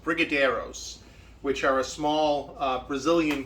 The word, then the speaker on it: Brigadeiros: And it was going to be, I believe it's pronounced Brigadeiros, which are a small Brazilian confection.